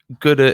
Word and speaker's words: Guddah: Guddah is my pronunciation. Gouda. Okay. Okay, so it's a mashup. Ooh, knocking things off the table. Simply, it's a mashup of my surname and Buddha, basically.